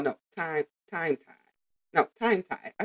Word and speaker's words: TimeThai: tii artist oh no time time tie no time tie I said it right the artist name is